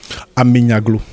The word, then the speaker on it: Amenyaglo: Est-ce que vous pouvez le prononcer vous-même? Amenyaglo.